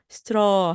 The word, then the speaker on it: straw: 턱을 뚝 떨어뜨리시면서 straw 하시면 됩니다.